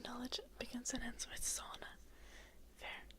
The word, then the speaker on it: sauna: Thinking knowledge begins and ends with sauna. Fair. We pronounce it sauna in Finnish.